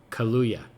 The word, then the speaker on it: Kaluuya: Daniel Kaluuya.